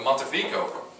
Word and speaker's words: Montefico: The Montefico. Pronounce it right?